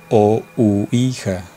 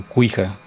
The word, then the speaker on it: Ouija: Pero aquí en México, al menos en México, no sé si en toda América es Ouija, con la O. Aunque algunos también en otras regiones aquí en México la pronuncian mal, y por supuesto del tablero lo llaman Cuija. En fin, bueno, es un tablero.